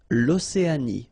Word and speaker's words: l'Océanie: L'Australie, l'Océanie, l'Antarctique, l'Eurasie, l'océan Atlantique, l'océan Pacifique. Okay, so let's see them one more time. L'Australie, final E not pronounced. L'Océanie, final E not pronounced.